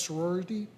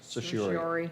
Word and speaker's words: certiorari: And finally, under finance, we have item F, which is the Oswego Development Board resolution for tax sorority. No, that's not how you pronounce that. Sorority? Certiorari. Certiorari.